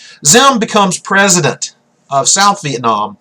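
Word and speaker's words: Diệm: down here, Nguyen Dinh Zim. It's got spelled with a D, but it has sort of a Z sound in Vietnamese. Diem becomes president of South Vietnam after the Geneva Agreement.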